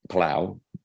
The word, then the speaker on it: Palou: and now they signed alex palou plow spanish national pronunciation sorry everybody who's dumped